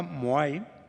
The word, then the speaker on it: Moai: Se llama Moai, curiosamente es una palabra que se pronuncia igual que los cabezudos de piedra que hay en la isla de Pascua, pero es casualidad.